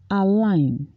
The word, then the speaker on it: align: like a table to myself silent G online align newspapers traditionally align themselves with political party resign